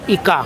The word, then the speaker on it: ika: Iya ika. Kan saya membacanya dengan a ya karena ini masih masa transisi antara Jawa ee ee apa Jawa kuno akhir dengan zaman Islam.